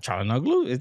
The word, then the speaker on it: Çalhanoğlu: Why am I forgetting how to pronounce Çalhanoğlu? Çalhanoğlu?